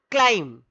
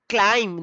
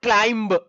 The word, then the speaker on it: climb: A small ant climb. This is climb, not climb. B is silent. That means the pronunciation of this spelling is climb.